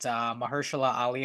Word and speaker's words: Mahershala Ali: It's got Mahershala Ali, I think is how you pronounce his name in Is it.